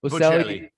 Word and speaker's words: Bocelli: Bocelli.